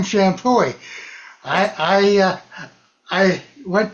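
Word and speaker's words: Champoeg: Oh, that's Shampooie.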